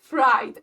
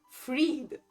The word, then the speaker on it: Fried: Nina this is Germany in Germany it will be it will be pronounced freed like from Frederic so pretty much Fred but I was like